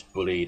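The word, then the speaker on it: Bulleid: cancel and you pronounce bullied as in succeed right. Um so you don't the i is silent it's bullied.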